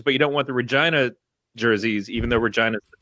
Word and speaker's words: Regina: People coming and going, oh, Regina, and I'd say no, Regina. It rhymes with fun.